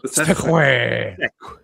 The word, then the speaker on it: segue: It's pronounced seque. Sequa. Seque. That's French way.